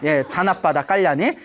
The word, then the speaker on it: 자나빠다 깔란: 이름이 자나빠다 깔란이라고 하는데 인도 발음이니까 자나빠다 깔란이라고 하는데 자나빠다 깔란이.